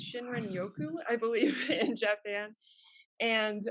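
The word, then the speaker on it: 森林浴: Japan is where it came from I'm gonna mispronounce this but it's shinrin Yoku I believe in Japan and um there's all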